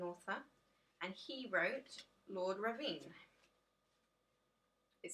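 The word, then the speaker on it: Ruthven: He's an author, and he wrote Lord Ravine. It says in the book it's pronounced Ravine, so that's what I'm going with.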